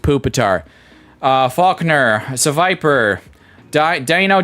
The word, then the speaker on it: Pupitar: It is pronounced Pupitar.